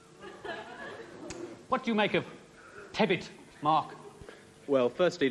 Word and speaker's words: Tebbit: What do you make of tebbit, Mark? Well, firstly, let me attempt to give you the correct pronunciation, which is something like Bit.